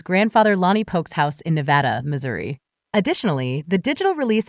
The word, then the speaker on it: Nevada: Number Nuts band, but and Nevada, Missouri instead of Nevada.